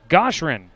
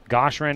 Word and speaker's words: Goshrin: Matt Goshrin is how I'm going to pronounce this. Playing in right field, he'll bat fourth. The next batter, number 44, Matt Goshrin. Goshrin is what the PA says as well, so we're